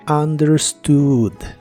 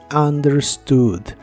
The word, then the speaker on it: understood: el pasado es understood la u otra vez se pronuncia como a y la doble o se pronuncia como una u larga o doble understood understood en el pasado lo